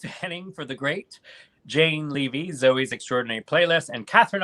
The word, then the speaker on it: Levy: it like you know their last names pronounced levy eugene levy not leaving debacle manila vanilla vanilla